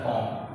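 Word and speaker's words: comb: लेकिन उसमें बी को भी नहीं पढ़ते हैं, ये होता है कॉम। कॉम मीन्स कंघी कहलाता है।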